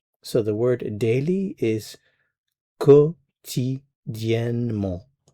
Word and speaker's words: quotidiennement: So the word daily is quotidiennement. It looks very long, but it's really just 4 syllables.